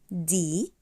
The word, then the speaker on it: Zahl: ديال ديال ديال ديال وهنا انا مش بنطق حرف الها انا بمد حرف حرف حرف الاال الاال الاال ديال ديال ديال الارقام طيب